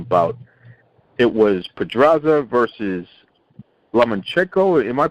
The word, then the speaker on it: Lomachenko: a lightweight unification bout it was Pedraza versus lemon check over am i pronouncing that right yes by cielo Michiko against